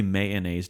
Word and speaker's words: mayonnaise: Do say mayonnaise, don't say mayonnaise. I'm saying mayonnaise. Mayonnaise. And I might throw a little hint of may in there. Mayonnaise. I'm not saying mayonnaise, no. Dude. It's 2 syllables to me.